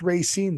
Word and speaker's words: Racine: do you know it's Ray scine then I was correcting you on your pronunciation of the town that it's in or the city I should say it's Illinois and it's